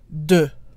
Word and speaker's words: deux: And the X is pronounced like a Z when followed by a vowel.